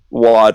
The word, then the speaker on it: Wad: Is it Wad or Wade? I can never get that right. I've never heard it pronounced Wade before, but Wad, yeah, rhymes with God.